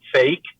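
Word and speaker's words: PHEIC: emergency of international concern phic pronounced fake.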